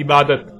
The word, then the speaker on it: عبادت: اردو میں شامل ہوا تو اسے عربی کی بجائے اردو لہجے میں تے کے ساتھ بولا گیا اور بولا جاتا ہے، یعنی عبادت۔ اب آتے ہیں اس